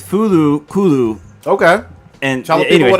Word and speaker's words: FLCL: Isn't it Fooly Cooly? That's how you pronounce it in English. Yeah, well, I like how you said that. Like, yeah, that's how you pronounce it. But no, but I'm gonna call it no because it's FLCL, but in Japanese it's Fulu Kulu.